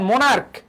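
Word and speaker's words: monarch: করা হয় একই কথা আমরা পড়ে আসছি যেমন মনার্ক মনার্ক মনার্ক থেকে কি মনার্স স্টোমাক আমরা বলি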